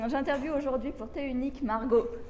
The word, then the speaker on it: Margaux: J'interviewe aujourd'hui pour Thé Unique Margot, comme elle aime bien le prononcer.